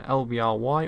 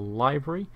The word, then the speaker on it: LBRY: checking out my channel on LVR y or library depending on how you want to pronounce it that really helps this